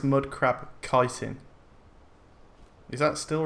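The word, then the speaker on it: chitin: right yes so the mud crab I was pronouncing it mud crab chitting and apparently it's mud crab kiteen is that still right is that still wrong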